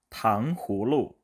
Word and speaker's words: 糖葫芦: 한국 사람들이 하시는 발음을 보면 대부분 탕후루 이렇게 후를 다 넣지 않고요. 탕후루, 우루 이렇게 되는 경우가 되게 많아요. 의식적으로 내가 흐를 넣으려면 그게 아니겠지만 근데 그게 아니고 그냥 한번 읽어보실래요? 그냥 한번 발음해보세요. 그러면 대부분 다 탕후루 이렇게 돼요. 후가 없어요. 하지만 중국어에서는 그게 빠지면 안 돼요. 아무리 빨리 얘기해도 당후루 이게 들어가기 때문에 이렇게 서로 간의 발음이 좀 다릅니다.